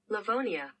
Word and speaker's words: Livonia: Livonia Livonia, okay, I said it right.